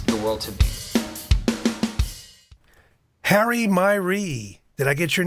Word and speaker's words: Miree: Harry Miree.